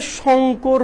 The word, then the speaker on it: শঙ্কর: আচ্ছা ভাইয়া, আমার নামের উচ্চারণ হবে শঙ্কর হবে। হ্যাঁ, তোমার ইংলিশ তো, নামের বানান যেভাবে ইচ্ছা লিখতে পারো, কিন্তু আসলে উচ্চারণ তো এদিকে শঙ্কর।